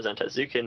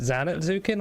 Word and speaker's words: Zantetsuken: The important part is it Zanetsuken or Zantetsuken? I've just said Zantetsuken, but it's It's spelled Japanese word. Zantetsuken.